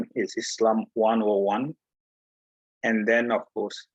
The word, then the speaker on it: Islam: it is should be pronounced as s because it's coming from another language so it's islam and then it's muslim